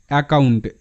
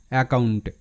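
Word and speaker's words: account: তো এটা অ্যাকাউন্ট, ACOUNT, মানে এখানে CC যদিও আছে কিন্তু একটারই উচ্চারণ হবে, তো ওটা কাউন্ট, অ্যাকাউন্ট।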